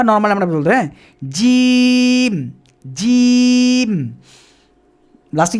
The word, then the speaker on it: ج: দাতটাকে চেপে ধরে একটু ছেড়ে আমরা প্র্যাকটিস করব জিম জিম জিম জিম একটু দেখুন জাস্ট একটু ছোট্ট